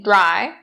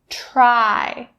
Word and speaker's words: try: Don't say dry. That's not correct. Try. So it should be the voiceless sound. Try. You shouldn't feel the vibration in your throat.